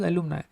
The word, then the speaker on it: alumni: के लिए मुझे यूज करना है दैट इज एलुमनाई।